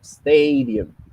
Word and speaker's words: stadium: En este caso, stadium está al principio. Stadium.